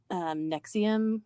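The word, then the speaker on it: NXIVM: I think well they pronounce it Nexium, but it's like NXVM or I'm not Okay.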